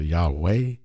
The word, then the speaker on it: Yahweh: so some people say yahwa some people say yahwah some people say Yahweh you know what I'm saying some people say